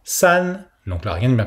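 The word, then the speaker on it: 四: Alors attention à ne pas prononcer si, le i derrière le s se prononce comme un e fermé, alors que dans le 2 on a un e ouvert, r, là c'est un e fermé, s, un petit e, un e, s.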